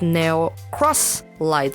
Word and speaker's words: Neo X Lied: Pionix were created exclusively for the Neo X Light series, now that I know it's pronounced Neo Cross Light series, so I don't know if we're getting more from them soon.